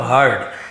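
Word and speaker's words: heard: Have के बाद हियर का थर्ड फॉर्म हर्ड, हियर्ड नहीं बोलेंगे, हर्ड बोलेंगे, क्योंकि ईडी नहीं, ईडी लगता तो हियर्ड होता, बट हर्ड होता है।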